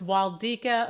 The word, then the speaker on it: Waldyka: Most people say it wrong, but it's Waldyka, Americanized to that pronunciation.